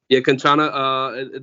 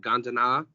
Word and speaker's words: Kanchana: So, Drew, you have Kanchana. I'm saying that right? Am I right? Yeah, Kanchana. The Thais pronounce it Gandana.